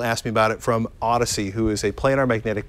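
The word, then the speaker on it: Audeze: Mobius and this is so you pronounce that Odyssey because I've always said Audis I've said Audis until someone it's odd as someone pulled me close and said it's Odyssey okay which you know who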